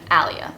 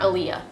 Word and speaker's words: Alia: how do you pronounce your name in romanian you would say my name alia but then when i can hear in english you have to anglicize it so you pronounce my name alia not aliyah alia how do i not